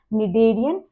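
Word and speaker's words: Schneiderian: ठीक है, SCH जो है दिस इज साइलेंट और हम इसे बुलाते हैं निडेरियन membrane and इट is responsible for the perception of smell.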